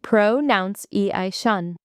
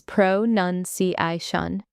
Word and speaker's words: pronunciation: Most people say pronounce-i-shun, but the correct way is pronunci-shun. It's none in the middle, not nounce, even though the verb is pronounce.